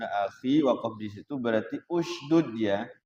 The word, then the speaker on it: اشدد: Hati-hati kalau dari kalau Harun akhi wakaf di situ berarti usdud ya. Jangan isdud atau asdud. Bacanya usdud. Ya. Jadi kalau kita mau wakaf di Harun akhi berarti itunya jangan isdud tapi usdud.